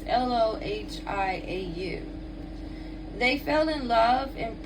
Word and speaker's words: Lohiau: Is it Loya? It's Lohiau.